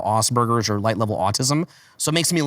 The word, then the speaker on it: Asperger: realized that I probably had what you call Asperger's or light level autism.